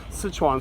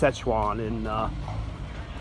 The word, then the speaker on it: Sichuan: Sichuan, sometimes pronounced Szechuan in English.